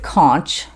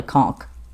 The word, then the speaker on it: conch: some people pronounce it conch c-o-n-c-h but it's a shell so it's really conk and it's a really